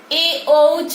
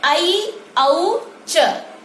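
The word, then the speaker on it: ऐऔच्: इसके अलावे छात्र प्रायः इसको ए औच पढ़ते हैं, लेकिन संस्कृत में इसका उच्चारण ऐ औ च होता है, ऐ औच।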